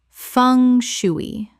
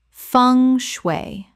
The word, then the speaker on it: feng shui: coo de grace coo de grace Word 214 feng shui Common mispronunciation fung shoo-ee Correct pronunciation feng shui Two syllables. The eng sounds like ung and the shui sounds like shway.